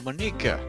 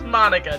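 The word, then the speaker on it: Monika: like you already know Bonica is that right you mean Monica Monica it's Monica dude well however you want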